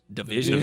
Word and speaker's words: DVSN: DVSN. Division. Yeah. No, I did the same thing, bro. It's like they leaving out the vowels.